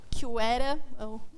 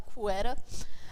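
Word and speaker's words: QuEra: Eh, tem outra forma também que é uma forma bem parecida, grosso modo, que são os átomos neutros da querera, o nome oficialmente mesmo é pronunciado cuera, ã, são 256 eh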